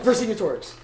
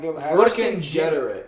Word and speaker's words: Vercingetorix: I don't know why, but I thought it was like a soft G. I don't know. Is it either? Or is it like Vercingetorix. Vercingetorix.